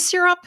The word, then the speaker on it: Sirop: Is it Sirop? Is that how It's you pronounce it? Sirop. It's Sirop.